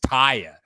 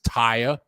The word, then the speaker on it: Tia: no her name is Taya Ty is not Tia it's spelled like Tia which is aunt in Spanish but you pronounce it Thai her name is Taya Plummer I'll put up